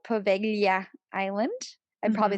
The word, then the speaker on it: Poveglia: know because there's a there's a specific sound that you make whenever you see the word or the letters combined g-l-i and that's pronounced good